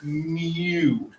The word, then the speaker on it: mu: use the greek letter mu it's pronounced like the cat would say mu that sounded more cat-like didn't it so mean of a population is called mean but we pronounce it mu and we use that